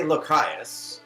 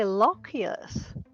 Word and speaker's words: Lochias: I say Lochias with a hard CH. How do you pronounce it? I say Lochias.